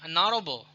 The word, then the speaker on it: honorable: Kemudian before silent h ya, dengan kata h dengan huruf h ya, sorry. For example, an honest man, an hour, ya, honorable. Ya, jadi h-nya itu disebut tidak disebut ya, silent.